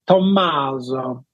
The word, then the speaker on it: Tommaso: Is that how you pronounce it, Tommaso? Yeah, my Italian counterparts, it's like they really pronounce the double M. It's like Tommaso.